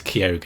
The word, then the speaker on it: Keoghan: For example, I now know how to pronounce Barry's last name. Barry Keoghan. For anyone asking, it's Keoghan.